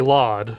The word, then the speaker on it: LOD: all we know flawed we say laud I mean but he